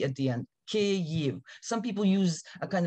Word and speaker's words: Kyiv: the capital is pronounced ku it's two syllables and most of the